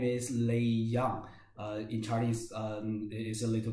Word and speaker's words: Lei Jiang: himself please hi hello everyone my name is lee young in chinese is a little bit a little bit difficult to pronounce um i am i'm working in germany